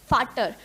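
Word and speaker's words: Vater: और इसी तरह फादर से जो प्रोनाउंसिएशन मैच हो रहा है एफ, फाटर, फाटर हम बोलते हैं जर्मन लैंग्वेज में अपने पिताजी को।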